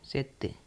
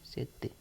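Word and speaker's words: sette: छ ठीक है गा सात को हम कहेंगे सेत्य सेत सात को हम कहेंगे सेत्य से का मतलब होगा सात इसको हम हिंदी में तो सात कहते हैं लेकिन इसको इटालियन में सेत्य कहते हैं सेत्य ठीक है आठ को हम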